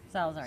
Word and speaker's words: Salazar: I'm here with Lauren Salazar. Did it say it right? Salazar? Salazar, Salazar, yes, of New Belgium.